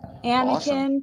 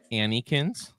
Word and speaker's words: Anakin: Anakin, Padme, and then Ooh. Anakin from Obi-Wan down there. You're missing. Nice. You're mispronouncing his name. Remember last night, Daisy, what you called him? Annikins. That's your Annikins.